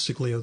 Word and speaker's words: Siglio: And was Siglio the perfect publisher for this? She was the perfect publisher. Is that pronounced correctly, by the way?